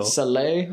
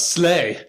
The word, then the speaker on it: Saleh: It's spelled S-A-L-E-H, so that makes me think Saleh. Oh. Saleh, but... Yeah, but it's not Slay. No, it's Saleh.